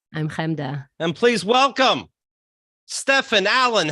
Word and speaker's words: Steffan: Actually, it's Steffan. That's Steffan. more right. Steffan is right.